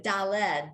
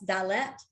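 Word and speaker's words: דלת: to dollar so that i've always said dale ed but that's dallet dallet exactly it has a t at the end exactly at the and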